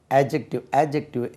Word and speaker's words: adjective: Adjective என்னவென்று பார்ப்போம். எழுதுறீங்க. ADJECTIVE. ஏற்கனவே சொன்ன மாதிரி adjective டி உச்சரியக்கூடாது.